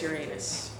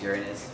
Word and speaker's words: Uranus: and of course the where's Uranus they mispronounce it it's Uranus but we go along